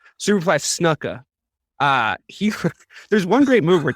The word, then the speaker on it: Snuka: Duca? Yeah, I mean, isn't that how you say his name? Am I saying it wrong? Am I doing an email? Snuka.